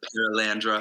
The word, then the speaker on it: Perelandra: clean singer of paralandra that's how you pronounce it paralandra paralandra I'm going to